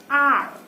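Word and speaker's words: hour: Now, initial letter is H, but this letter is silent. So, when I pronounce it, it is pronounced as R.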